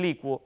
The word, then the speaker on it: licuo: academias podemos afirmar que adecuar evacuar y licuar en el uso oculto suelen conjugarse más como averiguar o sea los hablantes cultos suelen decir adecuo evacuo IL licuo Pero insisto Si usted